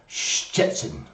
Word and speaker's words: Szczecin: it, and it's called Szczecin. So where we say like ch or sh, you have to say two of them at the same time. You go Szczecin, Szczecin.